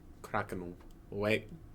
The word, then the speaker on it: Krakenwagen: W is pronounced as V, so Krakenwagen.